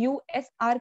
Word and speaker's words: usr: अब यहाँ पे USR यूजर नहीं है, ये USR करके ही इसे प्रोनाउंस करते हैं।